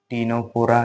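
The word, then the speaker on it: Ctenophora: Next C फॉर टीनोफोरा। ठीक है? देखो सी जो है यह साइलेंट में रहेगा।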